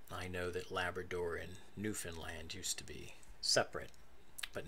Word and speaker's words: Newfoundland: recent so Labrador and Newfoundland and you you Canadians will appreciate I am pronouncing Newfoundland correctly not newfound land or Newfoundland and that is because